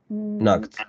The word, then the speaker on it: knocked: Mm, Knock, knocked, knock. right. Es otro ejemplo, no golpeamos, no pronunciamos la E, solo golpeamos con la D.